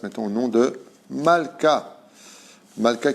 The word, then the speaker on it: Malka: au nom de malka malka qui veut dire en hébreu rennes mais qui se prononce aussi milka qui s'écrit exactement de la même façon c'est pour cela que